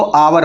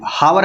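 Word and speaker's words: hour: जैसे ये एन आवर, इसको आवर पढ़ते हैं, हावर नहीं पढ़ेंगे, ठीक है, मीन्स 1 घंटा।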